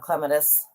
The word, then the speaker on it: clematis: had clematis the purple i love clematis that's how it's properly pronounced by the way trumpet